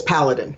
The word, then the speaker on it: Paladin: Am I pronouncing that right? Paladin? It's Paladin, but it's okay.